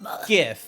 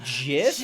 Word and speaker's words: GIF: A very hard G. Whoever says it's meant to be GIF is the same people